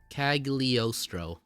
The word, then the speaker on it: Cagliostro: That would be Count Cagliostro. Am I pronouncing it right? Cagliostro.